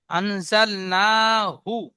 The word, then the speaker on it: أنزلناه: بسم الله الرحمن الرحيم إنا أنزلنا في ليلة القدر মাশাআল্লাহ, খুব সুন্দর বলেছেন, তবে হাটা পরিষ্কার উচ্চারণ হয়নি। আনজাল না হু, হা পরিষ্কার গম্ভীর আওয়াজে হু, বলেন।